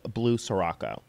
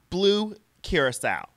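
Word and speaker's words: Blue Curaçao: a half ounce of blue Sirocco Blue Curacao Blue Curacao that's how you say it it's it's a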